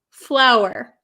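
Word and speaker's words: flour: So, these are both pronounced exactly the same. So, don't worry. They're both pronounced flower. Flower. So, f l o w e r. It has a w flower. And the other one like a how you with for cooking flower.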